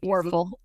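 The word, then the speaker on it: Wuerffel: Werfel.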